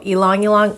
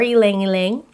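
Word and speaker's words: ylang-ylang: those two oils okay so elong elong or elang elang however you would like to pronounce it we're going to use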